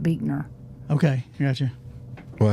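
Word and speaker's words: Buechner: it's boot uh well it's spelled b u e c h n e r but I think they pronounce it beer okay got you well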